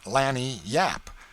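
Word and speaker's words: lagniappe: limber expressive handy word lanap they pronounce it Lan Yap it is Spanish so they said we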